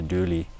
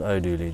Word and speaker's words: Dooley: In other purchases, and there's another Leinster purchase, Peter Dooley. Peter O'Dooley. Not O'Dooley, just Dooley. Peter Dooley. Don't No. just add the O just because it's an Irish name.